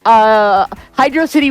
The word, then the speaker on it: Hydrocity: We've got 2 words and rhymes with velocity. So, hydrocity and hydrocity, and hydrocity wins.